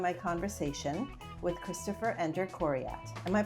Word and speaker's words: Coryat: Please enjoy my conversation with Christopher Ender Corat. Am I pronouncing that correctly?